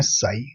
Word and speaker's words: psi: और इसको बोलते हैं साई। साई मतलब PSI, इस तरीके का इसका P साइलेंट होता है और PSI इस तरीके से इसको बोला जाता है।